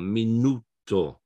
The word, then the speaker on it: minuto: the next last one minuto the stress is on the next last syllable but if it ends